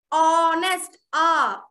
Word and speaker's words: honest: If I give a word called honest, H is silent here. When I say honest, yes, H is silent. What do I write before? Honest, it's again a vowel sound.